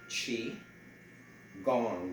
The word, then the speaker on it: Qi Gong: And you can spell it the way I spell it in the header, Q-I, Qi, Gong, G-O-N-G.